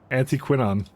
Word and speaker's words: anthraquinone: how we learn things anthraquinone an an quinon anthraquinone anti quinon there's only American pronunciation on it anti quinon okay I don't know